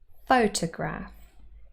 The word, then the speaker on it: photograph: Photograph. Here we have a word with 3 syllables, and the first one is stressed. Photograph. So we have the apostrophe right at the start of the word, and that means the first syllable has primary stress.